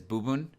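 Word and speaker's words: 部分: Another example is bubun, where it means part, and it's bun in that one.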